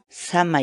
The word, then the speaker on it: samay: de vídeos en la que te enseñamos a pronunciar algunas palabras en quechua así que nuestra palabra del día por hoy es shamah y shamah y shamah la palabra quechua sana